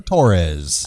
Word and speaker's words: Torres: Oh, you got to roll your R's there. Torres. Torres. Yeah, it's because there are 2 R's. Torres. There's 2 R's. Yes, There's 2 R's, so you double roll, right, Rocky?